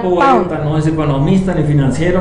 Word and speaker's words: Pound: Poeta, se pronuncia Pound.